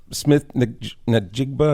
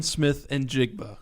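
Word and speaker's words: Smith-Njigba: And and uh Smith Nigba. Is that how you pronounce his last name? Jackson Smith and Jigba.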